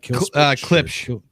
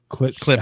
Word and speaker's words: Klipsch: It's like KILSPEICH or something like that. Klipsch. Klipsch. How do you say that? Okay. Klipsch. They're $800.